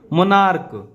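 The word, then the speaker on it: monarch: हम एस लगाएंगे जैसे मोनार्क इसको च नहीं पढ़ते मोनार्क क आ रहा है ना तो हम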